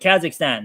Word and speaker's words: Kazakhstan: Kazakhstan.